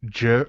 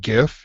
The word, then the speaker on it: GIF: rest of the show pronounced the if it was a hard g like like like gif he would pronounce it gif for through all of